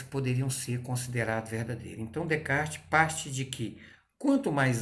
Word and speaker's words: Descartes: de kart de caixa que a gente escreve descartes leva menos de castilhos é a pronúncia correta de kart em um método racional